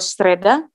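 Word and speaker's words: среда: Kalau Sreda, di sini. Jadi Y-nya nggak diucapin Y, tapi diucapinnya E, biasa. Sreda. Karena penekanannya di A, itu hari Rabu.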